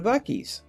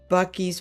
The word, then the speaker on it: Buc-ee's: Anyway, he absolutely adores going to Buc-ee's.